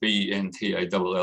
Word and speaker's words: Bentall: It was called a Bento Procedure, which is kind of ironic because I'm quite tall and my name's Ben, but that's actually how it's spelled. Bentall. It was a French surgeon that came up with this.